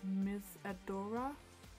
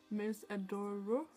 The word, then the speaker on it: Miss Adore: last haul um and i think i pronounced the brand as miss adora last time and it really is miss adore like with an o instead of an a i just i